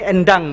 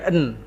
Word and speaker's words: Endang: Jadi ini endang bacanya. Endang. Ya, bukan en.